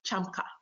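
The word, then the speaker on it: chacma: So we want to try to be like these chamka, that's how you pronounce it, chamka baboons.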